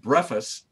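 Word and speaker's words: βρέφος: And what's interesting about that is the Greek word that's used there for little ones, it's a Greek word called, it's pronounced brephos.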